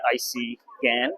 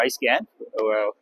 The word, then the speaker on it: ICeGaN: Now, and what we call the ICeGaN, ICeGaN, or iScan. We're okay with you pronouncing it either way.